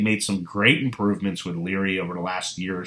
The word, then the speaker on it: Lire: Or it's actually pronounced Lire, and it means read in French.